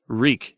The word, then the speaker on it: Reek: remember your name reek reek it rhymes with meek bad and there's blood